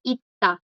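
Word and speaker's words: 있다: Aquí la S y la S, las dos están como bachim y a las dos les sigue una consonante. Entonces suenan, no suenan, suenan como una D, ita, ita. Es como de, ita.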